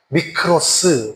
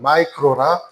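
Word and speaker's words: μικρός: 자,이 작은이라는 말을 헬라어로 어 보면 미크로라 그래요. 미크로. 미크로스. 미크로 이렇게 발음합니다. 영어로 발음하면 마이크로. 그래서 요만한 거 있잖아요. 그런 거. 볼펜 끝에 요만한 거. 어볼. 그런 거를 미크로라 그래. 마이크로라 그럽니다.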